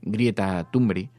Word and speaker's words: Greta Thunberg: Entonces, del movimiento de Greta Thunberg nacerá algo. Bueno, pero se pronuncia así.